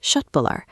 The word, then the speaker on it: köttbullar: When a word starts with a K followed by a vowel like uh, that K is pronounced like sh. So, it sounds like shö tbullar.